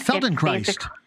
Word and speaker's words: Feldenkrais: I don't even know if I can pronounce it right. It's called Feldenkrais. And Feldenkrais.